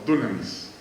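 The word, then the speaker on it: δύναμις: la misma palabra griega dinamis o dunamis que es pronunciación correcta de la dinamita de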